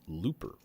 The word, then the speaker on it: Lupa: this is the instrument Lupa they just say it's pronounced Looper and I'm like okay